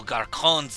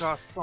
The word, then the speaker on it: garçon: What to me these little garcons and fillies? Garçon. Shy boys and girls. I did that I mispronounced it on purpose.